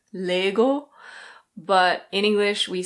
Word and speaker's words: Lego: Danish it's something like Lego, but in English we say Lego. At least that's the British pronunciation. Lego. In American pronunciation the O is a bit different. It's Lego. Lego.